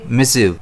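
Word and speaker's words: missive: इसे हम प्रोनाउंस कैसे करेंगे? मिसिव। इसमें स्ट्रेस जो है वो एम पर रहने वाला है।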